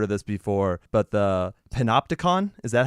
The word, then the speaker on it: panopticon: And I love the word you use, because I've never heard of this before, but the panopticon, is that how you say it? Yeah, panopticon, yeah.